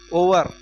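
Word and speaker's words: hour: हम घंटे को ओवर क्या पढ़ते हैं ओवर एच क्या है साइलेंट है इसलिए इसमें क्या लगेगा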